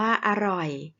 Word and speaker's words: อร่อย: ว่า ตลิ่ง องุ่น อร่อย เป็น คำ ที่ มี อักษร กลาง นํา อักษร ต่ำ เดี่ยว นะ คะ ออก เสียง 2 พยางค์ เหมือน กัน แล้ว ก็ พยางค์ แรก จะ ออก เสียง มัน อาจ ถึง เสียง ส่วน พยางค์ ที่ สอง ก็ จะ ออก เสียง เหมือน มี หอ นำ เช่น กัน ค่ะ ถ้า ไม่ รวก